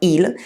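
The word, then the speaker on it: elles: my friends like oh Allah remember I don't pronounce the S on ela ela always means they for example jump a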